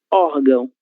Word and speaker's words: órgão: Então, nós lemos ímã, sílaba tônica I, e nós lemos órgão, sílaba tônica OR, ok?